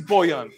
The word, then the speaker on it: Bojan: it's just hard for people to pronounce it as a silent J and also when you like football you have to be good so they were like oh no it is Boyan I told you before